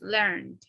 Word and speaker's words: learned: here is learned no we don't pronounce the e it's just learned learned yes now when